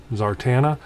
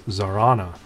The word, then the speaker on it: Zarana: to address the uh zarana and uh zar zartana i know that i was mispronouncing it i am it's my excuse that